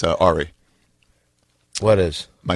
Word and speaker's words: Ari: If you say Ari, and you're mispronouncing it actually by accident, it's Ari.